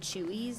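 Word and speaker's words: Chuy's: I don't know how widespread the restaurant Chewies is.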